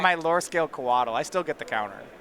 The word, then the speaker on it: Coatl: my lore scale Coatl, I still get the counter. Is it Coatl? I've always pronounced it Koshal. It's definitely Coatl.